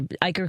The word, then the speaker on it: Eichar: Am I saying your Ikerd correctly? Is that right? Yes, you are. I I didn't even ask. the cheat the cheater you pronounce it it rhymes with biker.